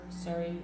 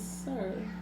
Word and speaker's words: Sir: They snapped with the blue Rumi and Seri. And they snapped by patenting the Rumi and Seri. I thought it was Sir Carter. Siri, whatever. It's Sir. Sir and Rumi.